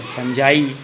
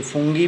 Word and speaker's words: fungi: इसके बाद जो तीसरा जगत आता है फंजाई, जिसे हम किंगडम फंजाई FUNGI फंजाई, कोई इसे फुंगी भी प्रोनाउंसिएट करते हैं।